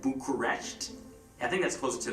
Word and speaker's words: Bucharest: past really fast it sounds so much like Bucharest like it's an honest mistake like for real